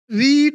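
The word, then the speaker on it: read: शी रीड नहीं होगा बेटा। स्पेलिंग सेम है लेकिन होगा रेड।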